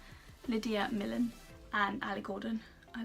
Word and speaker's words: Millen: Oh, Lydia Million? That's definitely not how you say her name. Lydia Millen and Ali Gordon.